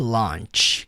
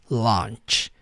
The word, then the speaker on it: launch: Launch, o som do ch, sim, tem esse som mais forte, launch. E aqui la pronunciar dessa forma, launch.